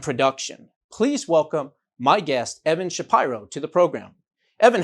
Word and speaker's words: Evan Shapiro: students film and production please welcome my guest evan shapiro to the program evan how are you doing today i'm good i'm glad you pronounced my name correctly that's odd well some